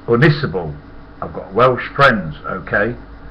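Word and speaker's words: Ynysybwl: WL there a pit and Jordi said it's pronounced why in I say is it hell come on Clever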